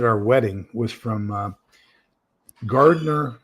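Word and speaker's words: Gardiner: wedding was from uh Garder although he pronounced it Gardner uh Maine and he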